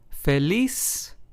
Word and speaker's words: feliz: In these words, we stress español, estoy, feliz, and trabajador. So, as you can hear, in all four of these words, we stressed the very last syllable because, of course,